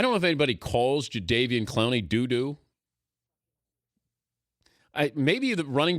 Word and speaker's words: Jadeveon: I just learned in today's New York Times profile is how you pronounce Jadeveon is Jadeveon, which I had no idea.